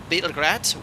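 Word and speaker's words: Београд: capital of serbia belgrade in slav it is called bitter grad which means what what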